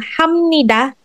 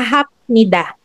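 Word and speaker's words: 합니다: This is the reason why ito ha yung hamnida hindi siya hapnida.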